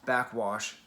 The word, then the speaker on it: Backxwash: now to understand how backwash is threatened just so you know you spell that with an x in the middle back x wash i don't know why